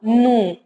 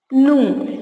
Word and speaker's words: gnu: zoo, we saw a gnu. Here, gnu. It is not GN. You should not spell G. G is silent. Okay. The letter G is silent and we have to spell it as gnu.